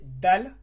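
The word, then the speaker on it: دال: Alors ici c'est dal, ça se lit de.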